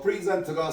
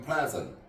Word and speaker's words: present: 자, 저 present가 사실은 원래는 명사나 형용사로 쓰이면 발음과 액센트도 바뀌었던 거 다들 아시죠? 형용사나 명사 때는 present, 동사 때는 present 이렇게 되죠.